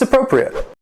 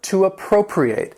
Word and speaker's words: appropriate: This word can also be a verb, to appropriate. It has 4 syllables. That stress is still on the second syllable, but the fourth syllable has that long A sound. Appropriate, to appropriate.